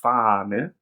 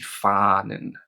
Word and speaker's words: Fahne: So yeah, the word for flag, die Fahne, and the plural, die Fahnen. Keep that A nice and long in the word Fahne.